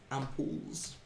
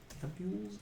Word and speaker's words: ampule: It's a weird way to spell that sounding word.